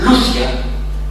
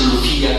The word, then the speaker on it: Lucia: se llamaba Lucio, y por esto es Lucia con acento en la U, no es Lucía con acento en la I, porque Lucía con acento en la I es Santa Lucía la de la Vista, pero ya era por San Lucio.